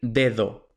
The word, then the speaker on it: dedo: Entonces, como hemos dicho, un nativo va a decir dedo, con la primera D fuerte y la segunda D suave, mientras que normalmente los extranjeros dicen dedo, con las dos Ds fuertes.